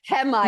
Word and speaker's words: Hehmeyer: That second H in there, it like throws everyone for a loop. Yeah. It's like Hehmeyer.